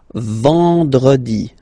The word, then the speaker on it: vendredi: Then en, nasal, and it's en. So remember, vendredi, vendredi, vendredi, vendredi.